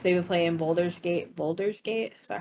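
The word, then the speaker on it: Baldur's Gate: been playing like they've been playing Boulders gate Boulders gate is that how you say it yes um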